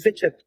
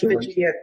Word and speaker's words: Vigent: I think it's Vigent. Vigent. Yes. Vigent. Not Vigilant. Vigent.